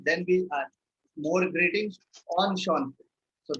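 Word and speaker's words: enchanté: Then we add more greetings on Sean. So this is pronounced as on Sean.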